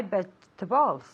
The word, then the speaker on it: vegetables: remind me to buy vegetables okay Vegeta bowls three syllables veg with the V sound okay vegetables okay first syllable veg okay okay vegetables vegetables